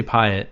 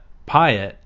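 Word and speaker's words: Pyatt: energy resources Jeffrey payatt people have uh argued about how you pronounce his name Pat Pat Pat I say Patt I think but anyway if you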